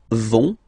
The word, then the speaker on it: vont: you don't pronounce it, so ils vont, final T, not pronounced. Ils vont, and then feminine form, elles vont.